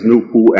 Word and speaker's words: NoopooH: For the benefit of the listening audience and the reading public likewise, the name NoopooH is spelled N-O-O-P-O-O-H and pronounced Noopoo. The H is silent and capitalized.